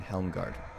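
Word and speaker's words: Helmgart: be although I mean if we're pronouncing a proper rule properly it's probably pronounced Isle hard and helm guard because he's our Sherman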